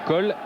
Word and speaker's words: Cool: Oui, Cole ou Cool, on ne sait plus trop comment l'appeler parce qu'il aurait précisé l'autre jour qu'il fallait prononcer Cole.